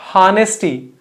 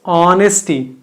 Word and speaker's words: honesty: This is not honesty. This is honesty. H is silent.